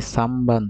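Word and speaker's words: 三番: সামবান্দেস তার মানে যখন নয়ের পরে বাপমা থাকবে তখন নয়ের উচ্চারণ ময়ের মতো হবে। সান বান হয়ে যাবে সামবান, শিনবুন হয়ে যাবে শিমবুন।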